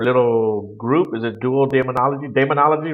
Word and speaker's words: Daemonologie: Is it Dual Daemonology? Daemonology, right? Yeah, you could say duo demonology, but we distinguish it a little bit by saying daemonology. It rolls better.